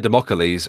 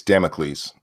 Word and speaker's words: Damocles: But Kingslayer Democles for the $1. Appreciate it. Am I pronouncing that correctly? Because I'm fairly sure it is Kingslayer Democles. It's Damocles. Damocles.